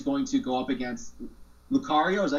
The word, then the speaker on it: Lucario: I was there for Renamon, and I'm curious to see how she's going to go up against Lucario. Is that how you pronounce it?